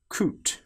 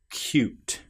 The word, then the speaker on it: cute: with a difference because here we don't say coot, we say cute.